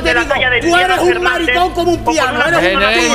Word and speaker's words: maricón: Maricón. Con acento en la O.